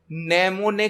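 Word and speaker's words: mnemonic: और assembly language में name ने कोड उसे किया जाते हैं नमूने कोड मां एम साइलेंट होता है नमूने कोड उसे किया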